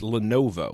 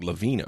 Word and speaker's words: Lenovo: was telling you about how were you pronouncing them by the way it's Lenovo what were you saying you know I I think you were saying like Lavino or something oh yeah but